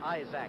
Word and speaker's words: Isaac: moment that of Bobby Isaac is a AC and down here they pronounce it I is a close to the time